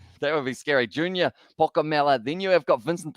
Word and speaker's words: Pokomela: It was a good run once again from, it was Junior Pokomela is the pronunciation there.